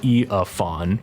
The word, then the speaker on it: Eiafuawn: I just say it Eiafuawn, but whatever works.